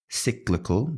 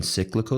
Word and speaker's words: cyclical: at risk for example cyclical the pronunciation cyclical look at that schwa look at that schwa